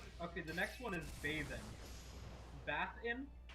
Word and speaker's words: Bathin: the next one is bathing bath in it's spelled b-a-t-h-i-n bath in he knows the virtues